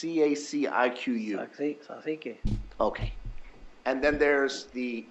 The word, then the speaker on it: Cacique: There's a 2nd crown that's called, I can't pronounce it, it's CACIQU. Cacique.